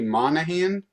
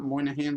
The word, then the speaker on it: Monaghan: young guy hit on marjorie monaghan yes that's how you say her name not moynihan like i said earlier i apologize and